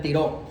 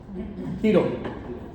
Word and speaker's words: Tiro: Tiro. Algunos lo pronuncian tiró. Tiro.